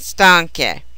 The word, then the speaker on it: stanche: Stanco maintains the hard C sound in its plural forms by the insertion of an H. So its 4 forms are stanco, stanchi, stanca, and stanche.